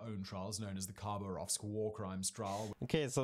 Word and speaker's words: Khabarovsk: and instigated their own trials known as the khabarovsk war crimes trial okay so that's how you pronounce that i wasn't sure how to pronounce